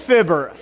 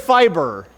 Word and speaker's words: Fibber: It's not fibber. It is fibber. I said fiber. I'm thinking like fiber and 5G.